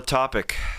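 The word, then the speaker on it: Topić: It's going to be a fun Nikola topic. As you said, he's Nikola Topic coming next year, but it's spelled t o p i c with the with the accent on the c.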